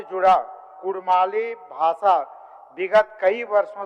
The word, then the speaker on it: कुड़माली: के रूप में एवं इनके मातृभाषा नाम का उच्चारण कुड़माली नेगा चारी जैसे शब्द प्रयुक्त होते हैं वही